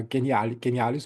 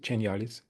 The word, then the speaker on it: Genialis: Um, when we think about your company, uh, genialis or is it genialis? Genialis. Genialis. In the US, it's the soft G and Slovenia it's the hard G. So, you choose.